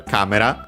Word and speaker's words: カメラ: But yeah, first and foremost we have a camera. Of course, camera as in photo c uh uh a camera for photographs from English accented just like in English on the first syllable.